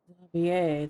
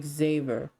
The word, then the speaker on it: Xavier: the way Mr zavier zier that's how you say his name I used to say Xavier Xavier zavier there we go it's so funny to